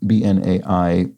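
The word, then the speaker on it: B'nai: pronunciation of Bene brith bnai pronounced bin and the letter A to rhyme with bidet Bene brith it means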